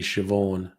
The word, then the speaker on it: Siobhan: yes um not understanding how the irish language has incredibly different pronunciations to anglo english so yeah neve is um and you know ceo barn is actually siobhan um and yes that that is that is also a good point salimi